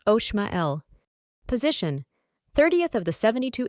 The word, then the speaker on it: Omael: Name, Omael, pronounced Oshmael.